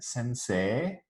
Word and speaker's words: sensei: So whenever we write ei, as in sensei, we don't actually say ei anymore. It's become a long e sound.